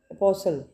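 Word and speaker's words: apostle: इत सेंट ठीक है नेक्स्ट है अपोसल अपोसल इोसल मीन नबी रसूल ठीक है यहां पे टी साइलेंट है अपोसल अपोसल नबी रसूल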